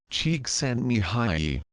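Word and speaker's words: Csíkszentmihályi: in case you're wondering his last name is pronounced Chek send Mi High his focus on happiness and creativity led to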